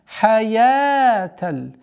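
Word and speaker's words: الحياة: Хаяталь. Я. Долгота в размере двух огласовок, удлиняем фатху. Хаяталь. Не обратите внимание и не обратите внимание на то, что вау здесь никакого воздействия не имеет в произношении.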